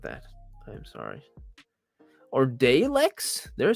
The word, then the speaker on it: Daleks: It is Daleks. Sorry, guys. Sorry to all the Doctor Who fans, especially Temporalson. I am sorry about that. I am sorry. Or Daleks?